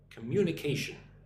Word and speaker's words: communication: So, look at the word communication. C mu n but the emphasis on the second syllable m communication.